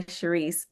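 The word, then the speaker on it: Charis: i s body Honor by Sharice c h a r i s I know I have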